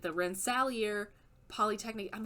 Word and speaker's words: Rensselaer: It doesn't matter, but Ben Kissel, please know, it is Rensselaer. It is pronounced Rensselaer. How is he saying it?